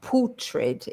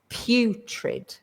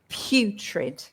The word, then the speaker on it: putrid: So we start with the P and then that U is is is the same pronunciation as not he or she or I but you. You. So it's putrid.